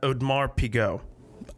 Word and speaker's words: Audemars Piguet: Okay, I'm pronouncing that Audemars Piguet. I think that's how you pronounce it. It's French. It looks like that's probably.